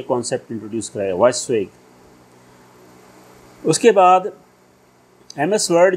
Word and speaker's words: WYSIWYG: Okay, ये full form है basically, spelling इसकी क्या है, WYSIWYG, इसको हम पढ़ेंगे वैश्विक.